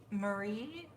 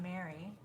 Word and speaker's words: Marie: Is it Marie? Marie? How else was I going to ask if it was pronounced? I can't think of how else it would be pronounced. It's not Mary.